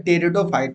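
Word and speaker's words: Pteridophyte: और इसमें ये जो है टेरिडोफाइट, जिसको हम लिखते हैं इंग्लिश में पटेरिडोफाइट, पी साइलेंट रहता है यहाँ, टेरिडोफाइट्स का थर्ड लेक्चर है।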